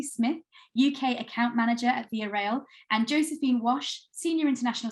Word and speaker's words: Via Rail: rail am i saying it correctly it's it's via rail that's right and we are canada's national railroad